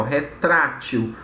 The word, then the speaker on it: retrátil: Ó, retrátil. O tra é uma sílaba tônica, mas ela só é acentuada porque ela é terminada em L.